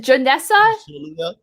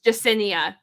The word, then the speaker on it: Yesenia: how to pronounce it is it janessa oh it's yesenia yeah i keep saying